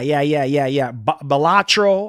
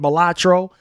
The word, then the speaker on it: Balatro: Balatro. I think that's how you say it. Balatro.